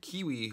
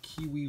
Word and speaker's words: QiYi: my first cube review i'm reviewing the Kiwi warrior w 3x3 I'm sure it's pronounced way different than that but to me I like using the word Kiwi you know Qi WI so it's just it's just fun to say I'm so started so